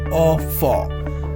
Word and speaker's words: au four: Or for. How to pronounce this? F-O-U-R is for, F-A-W. A-U, F-O-U-R. How to pronounce this? A-U, I told you here, A-U is as O.